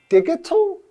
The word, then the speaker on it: digital: of life as a digital nomad? Shane? What? The word is digital. Oh, that's right, because there's a word, we have dig. That's right. Right? But here we pronounce the G as J.